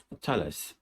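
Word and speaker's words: Thales: going to look at tell us i hope i pronounce it right tell us t-h-a-l-e-s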